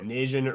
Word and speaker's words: Nian: Yeah, Nian rhymes with Asian.